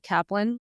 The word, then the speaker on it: Kaplan: I'm pretty good and am I pronouncing your last name right Kaplan yeah and actually this is